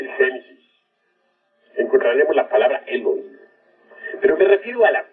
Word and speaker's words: Elohim: Ahora, Elohim es una palabra que se escribe con H, Elohim, que se pronuncia Elohim, porque la H suena como J, y significa diosas y dioses.